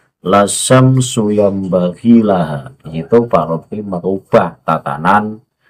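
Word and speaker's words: لَا الشَّمْسُ يَنبَغِي لَهَا: Padahal yang benar adalah lasyamsu yambaghi laha.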